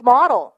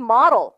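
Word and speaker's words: model: the latest the latest mod 내가 분명히 얘기했어 영어를 잘하는 거 같이 들리게 해주려면 모델 하면 안 돼요 다시 the latest mod 좋은데요 갈게요 water resistant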